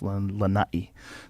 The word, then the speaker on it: Lanai: So in the island of Lanai, you got to say it right. I usually say Lanai, but it's Lanai.